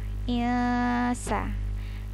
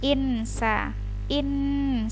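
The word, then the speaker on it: الْإِنسَانُ: Jadi membacanya ilsa. Jadi mau menyebutkan huruf nun tapi tidak tidak sampai, jadi nggak nyampe nyebutnya gitu ya. Kalau misalnya disebut dengan jelas kan insa begitu, tapi karena nunnya disamarkan maka hurufnya tidak terlalu jelas.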